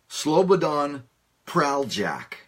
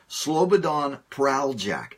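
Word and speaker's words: Slobodan Praljak: and pronounce it correctly it's Slobodan Slobodan prale jack i believe that's his closest that's as close to the correct pronunciation as I can get prowl Jack Slobodan prowl Jack but I just want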